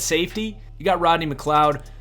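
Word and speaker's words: McLeod: safety you got Rodney McCloud it might be pronounced Mick Lee odd but McCloud is just too perfect for a prototype Center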